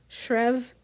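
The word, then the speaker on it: Schreave: stri s c h r e a v shrev edin shev he swept his hand grandly in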